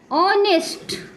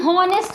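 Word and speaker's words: honest: इसको भी अपन हॉनेस्ट नहीं पढ़ते हैं, इसको क्या हॉनेस्ट पढ़ते हैं। कहीं कहीं जिसको इंग्लिश का सही नॉलेज नहीं होता, उनके प्रोनाउंसिएशन का नहीं होता तो पढ़ते भी हैं, लेकिन इसे हम क्या पढ़ेंगे, ऑनेस्ट, इसे पढ़ेंगे ऑनेस्ट।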